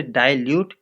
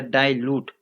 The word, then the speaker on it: dilute: डाइल्यूट, डाइल्यूट, इसे डाइल्यूट या डाइल्यूट दोनों तरीके से उच्चारण किया जा सकता है।